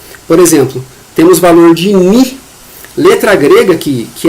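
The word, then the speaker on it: μ: exemplo temos valor de mi letra grega que que é um v mas se escreve se pronuncia com m de navio e i de e ele é um valor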